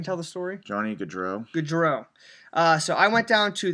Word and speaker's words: Gaudreau: Help me pronounce this name again so I can tell the story. Johnny Gaudreau. Gaudreau.